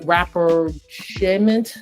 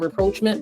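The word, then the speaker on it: rapprochement: So that is the practicing and then you have the it's actually pronounced rapperment. It's a French word but I call it reproachment but clearly it's not correct.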